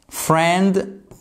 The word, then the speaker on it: friend: Donc friend, on prononce pas le I.